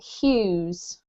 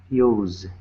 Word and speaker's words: Hughes: Normally I don't worry about names too much, but this is quite a common surname, so it's pronounced Hughes. Use.